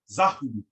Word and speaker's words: Zahu: And you would place the A between the Z and the H, and the U between the H and the B. And that would be pronounced Zahu, Zahu, as I explained earlier.